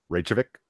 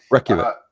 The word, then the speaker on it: Reykjavik: Reykjavik. Yes, thank you. Reykjavik.